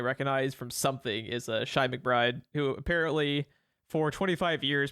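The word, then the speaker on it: Chi McBride: from something is a shy McBride who apparently for 25 years people have been mispronouncing his name as Chief McBride because when you see Chi right you automatically assume Chi uh he it was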